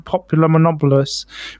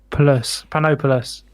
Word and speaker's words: Panopoulos: canned fruit that Chatham, Ontario restaurant owner Sam Populomopoulos placed on a standard tomato and cheese pie, quote, just for fun, alongside bits of ham. I should pronounce his name properly. It's Panopoulos.